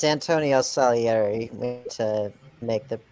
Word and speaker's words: Salieri: i'm just for everyone it's salieri it's uh italian but yeah so first